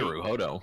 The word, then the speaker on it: Naruhodo: Like, Naruhodo. like the Zelda goddess.